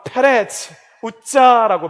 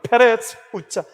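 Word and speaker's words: פֶּרֶץ עֻזָּא: 여러분, 베레스 웃사, 히브리 말로 하면 페레츠 웃자라고 발음이 됩니다. 페레츠 웃자.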